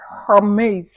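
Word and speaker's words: Hermès: really it's giving her her maze if you hear French people pronouncing this Hermes you know what I'm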